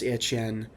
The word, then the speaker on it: Etienne: They lost Travis Etienne. That's kind of weird to say, but it is true. And if phonetically it looks right, it sounds French.